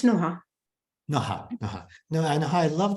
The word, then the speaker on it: Noah: first how do you say your name it's Noah no I know I love the way you